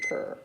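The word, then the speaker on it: Puer: P-U-E-R. P-U-E-R. I'm assuming you pronounce it per.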